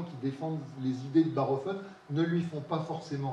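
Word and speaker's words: Bachofen: Alors, ça s'écrit Bachhoffen, mais c'est un Suisse allemand, donc on dit Barhoffen, hein, qui a été un peu le premier à écrire un livre qui a fait vraiment date.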